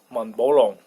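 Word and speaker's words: 满宝龙: But rather, Mont Blanc sounds like it's Chinese name in Cantonese pronunciation. That is 满宝龙, 满宝龙, 满宝龙, Mont Blanc, 满宝龙, Mont Blanc.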